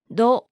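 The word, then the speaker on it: ド: What does to sound like with the dakten? To with the dakten is pronounced do.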